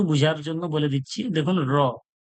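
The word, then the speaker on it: راء: এরপরে দেখুন এটা দেখুন র র র র একবারই বলবেন র এরকম করার দরকার নাই জীবটা জিহব্বাটা উপরের তালুর সঙ্গে বেশি টক্কর খাবে না একবারেই টক্কর খাবে র র র র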